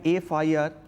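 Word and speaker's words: FIR: একই রকমভাবে I lodge an এফ আই আর, এফ দিয়ে স্টার্ট হচ্ছে, কনসোনেন্ট কিন্তু প্রোনাউন্সিয়েশনটা সাউন্ডটা কি আসছে ভাওয়েলের মতো, এফ এ, আগে একটা এ সাউন্ড আসছে, তার জন্য কিন্তু আমাকে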